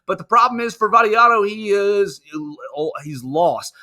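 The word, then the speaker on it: Vattiato: learn his name earlier Nicholas Barrio that IO uh vadio is is his name that's not that's not how he say his name let me rewind this and here daddy Otto yes that's what it's Nicholas variato is is how you pronounce the name and Nicholas variato he's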